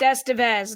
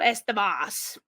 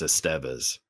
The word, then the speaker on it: Estevez: It's Estevez, not Estebas or Oh something," because god. I mess that up a lot. It is actually pronounced Esteves, but I feel like a Estevez.